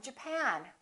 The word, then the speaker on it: Japan: at the next one did you say japonais or Japan in this case it's the second syllable I'm from Japan I'm from Japan let's take a look